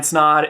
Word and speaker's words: Snod: My name is Snod, it rhymes with odd, and welcome to another video.